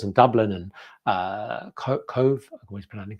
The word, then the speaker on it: Cobh: call into Dublin and Cove I hope I pronounce it correctly cobh which is an